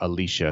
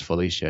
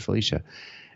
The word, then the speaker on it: Felicia: He kept calling her Alicia, and her name is Felicia. And she finally went, "Actually, it's Felicia."